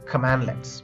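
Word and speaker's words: cmdlet: In PowerShell, commands are called as commandlets, pronounced as command-let.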